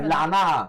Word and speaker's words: 몰라나: 몰라 이건 원래 이란 튀르키예식 발음으로 말해줘야 돼요. 몰라나. 검색하면. 멜라나.